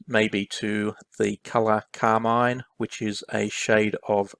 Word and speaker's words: Carmine: pencils pencils are by carmine infantino i think it's actually pronounced carmen infantino and he together with two